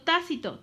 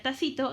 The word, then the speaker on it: tácito: Uno es el sujeto tácito, tácito con acento en la A, porque si no diría tacito, y el tacito pues es el hermano de la tacita, ¿sale?